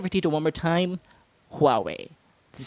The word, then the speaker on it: Huawei: So instead of just saying HUAWEI, you want to pronounce that with an H at the start, with a slight breath at the beginning, if you need to, if you need to do that.